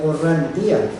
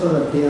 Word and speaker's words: Orrantía: el licenciado Francisco de Orrantía. Orrantia. No, lleva acento en la... ¿Es Orrantia? Bueno, ahora es Orrantia, ¿no? Es Orrantia, o Orrantía, lleva acento. Orrantia. Entonces, si lleva acento, creo que es Orrantía, ¿no?